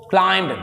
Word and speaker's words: climbed: ran, भागा, and climbed up a tree, climbed, be silent here, m के बाद भी साइलेंट हो जाता है, याद रखिएगा, ये रूल है।